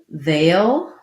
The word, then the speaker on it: they'll: They'll sounds like tense A. Sounds like similar to if I had the word ale or fail, then I add they'll.